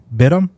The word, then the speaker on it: Batum: How do you pronounce it? Bidham.